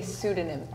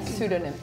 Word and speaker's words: pseudonym: is slightly different but we would say pseudonim Pon yeah pseudonim so there's more of an emphasis on the do o sound I think